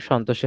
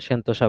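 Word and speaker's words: Sentosa: সিঙ্গাপুরের সন্তোষে হয়েছিল। এটাতে মানে সেন্তোসা বলা আছে, সন্তোষ সেন্তোসা দুইটা উচ্চারণে করা যায়।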